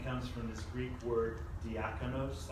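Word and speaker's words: διάκονος: Deacon, as I bet we all know this, deacon comes from this Greek word diakonos, I believe is how you say it.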